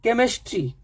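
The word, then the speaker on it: chemistry: पहला वर्ड है केस तो इसमें नहीं है केमिस्ट्री के तो सी का का से प्रोनंसिएशन है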